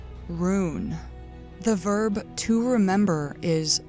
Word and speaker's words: rūn: memory related is R-U with an umlaut N, pronounced rune.